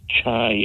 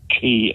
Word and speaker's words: QI: And according to them, according to Stephen Fry and the QI elves, QI or chai or chi as it's pronounced is the most commonly played word in Scrabble.